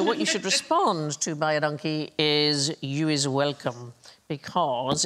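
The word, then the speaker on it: Baie dankie: you is welcome because it sounds like by a donkey but it's identical to the Afrikaans phrase which means thank you very much so phonetically by a donkey buy a donkey buy a donkey yeah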